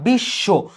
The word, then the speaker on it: বিশ্ব: কিন্তু পদের মধ্যে বা শেষে থাকলে তখন সেটা দিতে হবে দুইবার। মানে এটা কিন্তু বিষ ব না বিশ্ব। তুমি এই তালবসটাকে দুইবার উচ্চারণ করছো।